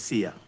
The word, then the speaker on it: Sia: Yes, Sia. It sounds like saying, see ya.